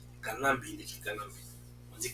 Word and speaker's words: Kanambe: Kanambe, il a bien écrit par le but 3 syllabes, Kanambe.